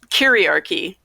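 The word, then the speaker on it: kyriarchy: heard it before kariarki curiarchy spell it oh yeah ask the dyslexic person to spell it it's like patriarchy but it's k y r curie ia okay okay but yeah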